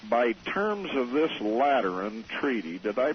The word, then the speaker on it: Lateran: By terms of this Lateran Treaty, did I pronounce that right?